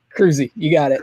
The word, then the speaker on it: Kroeze: And it's Kroeze, right? I don't want to say it wrong. I don't want people to see it wrong. Kroeze, you got it.